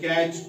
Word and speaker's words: catch: इसी तरह से MATCH, मैच, T silent, BUTCHER, बचर, T silent, CATCH, कैच, T silent, SWITCH, switch, CH से पहले टी तो टी साइलेंट।